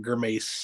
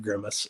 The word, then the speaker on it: Grimace: my thing laughs yes Dairy is upset about gurmace instead of Grimace uh I mean he he has some unusual pronunciations of a few things but he's my